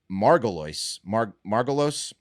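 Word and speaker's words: Margolyes: Which is why we must listen to actress Miriam Margolis.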